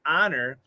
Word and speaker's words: honor: is a short o the h of course is silent so that's why somebody honor not somebody owner so those o's are